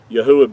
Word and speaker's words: Yahuah: Yahuah being his whole name pronounced out with the four letters instead of the two.